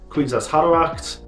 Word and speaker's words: Kwisatz Haderach: For future reference, it's Bene Gesserit, Kwisatz Haderach. The planet Dune's proper name is pronounced Arrakis.